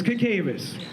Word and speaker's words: Cacavas: was written by John cacavas so I used to pronounce it wrong but Brian said it's cacavas okay so uh a